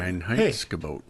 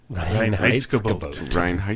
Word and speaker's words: Reinheitsgebot: But, Reinheitsgebot. Reinheitsgebot. Very good. Sound it out. 3 syllables.